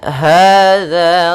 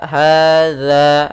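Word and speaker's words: هذا: Di sini za, hadza, hati-hati dalam pelafalan za, bukan dibaca dengan za, tapi dia za. Hadza, hadza.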